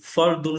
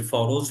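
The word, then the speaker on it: فرض: শব্দটি ব্যবহার করবে, যে ফরজ বলি, এই লাস্টে যে জ উচ্চারণটা, সেটা মূলত ফার্সি ভাষা হওয়ার কারণে, কিন্তু এই ফার্সি শব্দটা মূলত আরবি থেকে আসে। আরবি ফারদুন, এই ফারদুন মানে ফরজ।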